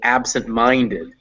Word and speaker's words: absent-minded: apostrophe is second stress so the secondary stress is on ab the primary stress is on mine so we get so we get absent minded so ab gets some stress but not as much stress as mine so that's how sex